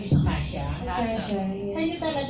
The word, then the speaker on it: Akasha: How about the pronunciation, Ms. Akasha? Akasha, yes.